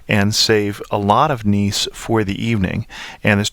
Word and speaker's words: Nice: appearing at the end of on is not pronounced I hope that helps and last but not least I wanted to talk about niece which I really thought was a wonderful home